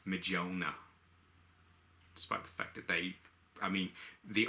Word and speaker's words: Mjolnir: Mjolnir, if I'm pronouncing that properly. I got corrected a couple of weeks back. Apparently, one of my friends thought it was pronounced Mjolnir.